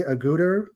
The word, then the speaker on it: Agutter: I think it's Jenny Agutter. I believe that's how you Yes.